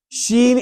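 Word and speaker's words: ش: Like I mentioned about the Jeem, Sheen is also a Shajriya letter. Okay. Where it's pronounced from the middle part of the tongue, touching the middle part of the palate. Okay. And top of the mouth.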